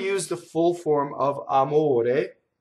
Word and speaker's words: amore: So this R would be surrounded by vowels and it flips like this.